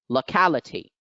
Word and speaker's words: locality: locality over here again the second syllable is the one which becomes accented due to the fact